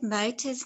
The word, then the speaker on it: Mota: What do you think Mota's name sounds like? Mota. What do you think it sounds like? Yes, it rhymes with Tota.